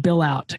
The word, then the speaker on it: Billout: It looks like his name is pronounced Billout.